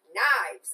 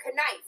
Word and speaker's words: knives: be able to know how to pronounce knives I was pronouncing it conife and it was because